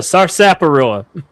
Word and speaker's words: sarsaparilla: It's got an R in it? I'm sorry. The fuck's a sarsaparilla? How I'm gonna pronounce it from now on? Okay, we're retconning on the fly. That's a sarsaparilla.